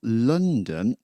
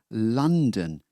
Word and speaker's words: London: Many of you, when you say this place, well, probably you will say London, but it's not London. Well, this sound here, it's London. Un. It's like the word under. London.